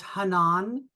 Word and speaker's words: Hanan: So it's the way you say it is Hanan. So it's Hanan. kind of like Hanan with the accent on the second syllable.